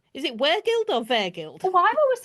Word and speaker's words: Weregild: And her latest book is Murder in Anglo-Saxon England, Justice, Weregild, Revenge. So let's talk murder, Annie. And pronunciation. Is it Weregild or Vergild? Oh, I've always said Weregild, but you've got me thinking now.